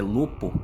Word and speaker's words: Lopo: ao pico do Lopo atenção ao nome pois a pronúncia se assemelha a Lobo mas é Lopo com p de pato nessa época meu pai